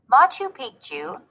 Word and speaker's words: Machu Picchu: royal treatment machu picchu was a royal estate machu picchu pronounced ma chu was a city that was part